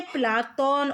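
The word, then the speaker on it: Platon: अंग्रेजी के अनुसार इसका उच्चारण क्या है? प्लेटो। यूनानी उच्चारण क्या है? प्लाटोन। और अरबी में ये क्या बन जाता है? अफलातून बन जाता है। तो उपर्युक्त तीनों कथन सही हैं।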